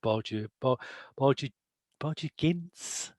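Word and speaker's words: Borgia Ginz: I mean, I think the key indicator of it is the character of Borgia Gintz. Is that how we pronounce it?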